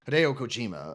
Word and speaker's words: Hideo Kojima: Cojima, sorry I said his last name wrong. Hideo Kojima.